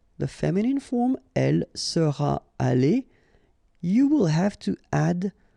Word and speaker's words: allée: You don't pronounce it, but you need to write it. Okay? So let's read them. Il sera allé. Elle sera allée.